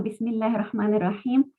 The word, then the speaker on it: Bismillahirrahmanirrahim: Si antes de la palabra Allah hay una kasra, entonces la segunda lam de la palabra Allah se pronuncia con suavidad. Es el caso típico del Bismillah. Así que a partir de ahora, cuando leamos una sura y empecemos diciendo Bismillahirrahmanirrahim, tenemos que leerlo con suavidad a la palabra Allah.